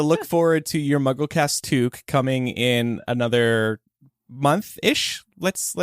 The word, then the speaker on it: toque: Never have enough, but it's called a toque. A toque? Toque. Like fool of a toque? Toque. It's spelled Toque.